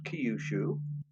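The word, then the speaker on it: Kyushu: It's pronounced Kiushu.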